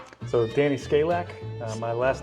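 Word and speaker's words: Skalak: Dan, how do you pronounce and say your first and last name? So Danny Scalac.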